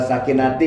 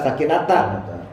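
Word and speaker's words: السَّكِينَةَ: Alhamdulillahilladzi anzala sakinati, kan gitu bacanya. Seharusnya anzala sakinata.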